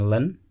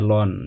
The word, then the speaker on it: ln: Ada yang menyebutnya len, ada yang mengatakannya ln.